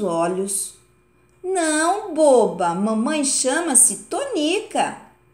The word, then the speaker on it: Tonica: Não, boba, mamãe chama-se Tonica. E o rinoceronte está falando em sílaba tônica. É muito diferente. Perfeitamente, confirmou Quindim. No nome de Dona Tonica, a sílaba tônica é ni.